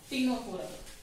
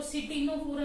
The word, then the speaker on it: Ctenophora: So come with the next phylum, that is टीनोफोरा। C silent है बच्चे, इसलिए हम लोग इसको बोल रहे हैं टीनोफोरा। ठीक है, इसको सिटीनोफोरा नहीं बोल रहे, राइट।